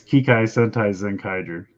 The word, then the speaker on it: Kikai Sentai Zenkaiger: It's Kikai Sentai Zenkaiger.